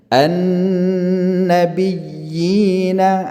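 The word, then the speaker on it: النبيين: Cara baca begini, an-nabiyyina, ya. Ya yang pertama itu kan ada tanda tasydid, maka dia ditekan kemudian dilepaskan ke ya sukun setelahnya, dipanjangkan lagi 2 harakat.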